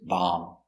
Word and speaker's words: bomb: honey very good example bomb remember no be no bomb just bomb bomb is countable this